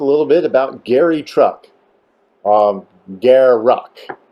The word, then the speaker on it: Garruk: Garuck. Okay, that's how you're supposed to pronounce it. Garuck. So says, Mark Rosewater.